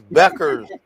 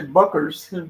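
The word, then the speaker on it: Bueckers: Yeah, people said don't pronounce the U. I think you said that man. Somebody said don't. Yes, man. Ryan with checkers, man. Beckers. Her name is Beckers. Somebody tried to say Buckers.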